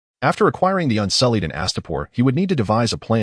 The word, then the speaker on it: Astapor: Each time he read Astapor, he inadvertently pronounced it as a start.